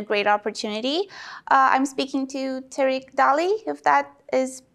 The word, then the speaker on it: Terik Daly: opportunity I'm speaking to Tariq Dali if that is pronounced correctly I'm sorry if it's not oh no problem it's Tarik daily like Eric with the T and something you do every day great Tarik my name